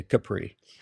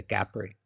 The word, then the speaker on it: Capri: Italy and or his Americans say Capri but in in Italian they say Capri and so we stay